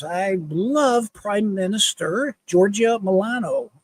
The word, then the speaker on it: Meloni: I love Prime Minister Giorgia Meloni. How do you say your name? Meloni. It's like baloney.